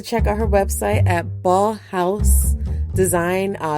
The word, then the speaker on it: Baughaus Design: out her website at ball house design uh it's probably it's pronounced more like balls design and is spelled b